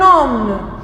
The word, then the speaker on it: homme: et N avec O, le H dans le mot homme ne se prononce pas. Alors, on dit c'est un homme, c'est un homme.